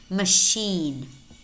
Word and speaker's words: machine: Also spelled CH as an exception, and these are pretty much, there are probably maybe 4 or 5 more words that are spelled CH and pronounced sh.